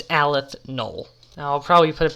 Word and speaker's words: aleph null: null and i know i said alpha null in this video earlier but that is only because i am stupid and my mouth was dry and i said it wrong no it's just because i'm stupid that's why i just said it wrong it's aleth knoll now i'll probably put